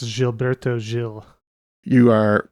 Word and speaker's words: Gilberto: I think that uh it's pronounced jilberto Jill you are correct